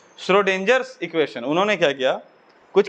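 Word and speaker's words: Schrödinger: सही लिख दिए हम, वाह, श्रोडिंगर, स्क्रोडिंगर नहीं है ना, तो बहुत सारा वर्ड इसमें साइलेंट है ना, श्रोडिंगर इक्वेशन।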